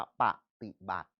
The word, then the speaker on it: ปฏิบัติ: แปล อีก ที นึง ปฏิบัติ เรา เขียน แบบ นี้ แต่ เรา อ่าน ว่า ปฏิบัติ ดำเนิน การ ไป ตาม